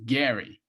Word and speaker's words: Gerry: and it's d RR y, but it's actually pronounced, Gary.